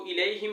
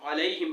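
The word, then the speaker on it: عليهم: یا ہا نہیں ہو، اس کو الیہم نہیں پڑھنا بلکہ علیہم پڑھنا ہے، غیر المغضوب علیہم ولا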